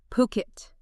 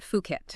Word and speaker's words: Phuket: And look, if you're dreaming of high-end spots or maybe smart investments there, it's definitely pronounced Puket, not Fuket.